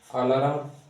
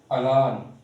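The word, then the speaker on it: alarm: third word ट इ आलाराम right यही सोच रहे थे ना कि यही बोलेंगे आपके मन की अलाराम ता खुश बट आपका वर्ड सही नहीं है इट्स not correct the correct word ज अलान द करेक्ट वर्ड इ अलान सो नाउ द टाइम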